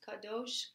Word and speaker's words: Kadosh: So some people, again, are confused how to actually pronounce it. It's Kadosh, Kadosh, Kadosh, Adonai, Sabayot.